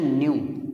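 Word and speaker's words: ν: इसका प्रोनाउंसिएशन है न्यू, इसको न्यू बोला जाता है, न्यू।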